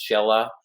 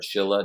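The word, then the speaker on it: Shela: Um, the place to to be is Shella um or Schill depending on your pronunciation.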